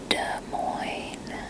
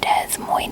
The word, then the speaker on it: Des Moines: hear what they admire Iowa Iowa Iowa Iowa des Moines Iowa is where I live don't I and boy toy it is not pronounced Des Moines the part Des Moines as it is Des Moines the SSR silent